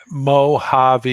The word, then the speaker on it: Mojave: I mispronounced Tina's Mojave. It's Mojave, I bet, is what you're. Mojave.